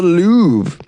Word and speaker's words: Louvre: At that very famous gallery in Paris called the Louvre.